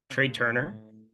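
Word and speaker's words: Trea Turner: Then Trey Turner. I'm going to shortstop Trey Turner, and it's spelled very stupidly, TREA.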